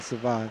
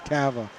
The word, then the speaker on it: Cava: I knew I was going to do that, the French pronunciation, Savant. It's Cava.